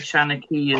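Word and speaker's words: seanchaí: A Shanachie is, as you would pronounce it in Irish.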